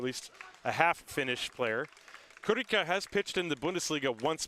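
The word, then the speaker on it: Kullika: his name is spelled with k-u-l-l-i-k-a but it's pronounced kurika this is what he told me before the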